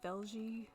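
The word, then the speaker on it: Vejle: I can't pronounce the name of the city, but it's like V-E-J-L-E, like Velge.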